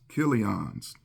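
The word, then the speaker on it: Chilion: that was imc's and all that was uh kon's it's spelled CH but it's pronounced c not cha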